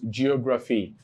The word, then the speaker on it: geography: So you have 1, 2, 3, 4 syllables, geography. Now, this is the last syllable. This is second to the last syllable. And here is the third to the last syllable. Okay? Geography.